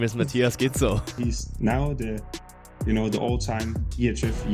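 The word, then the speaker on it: Gidsel: My last name rhymes with Schnitzel. Hello, my name is Matthias Gitzel.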